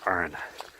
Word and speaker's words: Arran: on the isle of iron and Scotland alright you gotta make sure you pronounce it correct Aaron so I have my